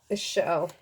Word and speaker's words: Ixchel: So for Ixchel, let me just make sure I'm pronouncing that right. Ixchel.